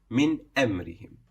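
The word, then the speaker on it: مِنْ أَمْرِهِمْ: So sometimes we'll catch ourselves saying min amrihim, but this is wrong. It has to be pronounced as normal, as idhar, which means to show. Min amrihim, just as normal.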